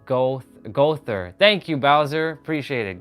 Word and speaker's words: Goethe: It is pronounced Gother.